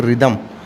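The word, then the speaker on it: rhythm: दूसरा वर्ड आप देखिएगा आर एच वा टी एच एम इसमें देखिए रिदम रिदम में भी एच आपका साइलेंट है ओके एंड यू नो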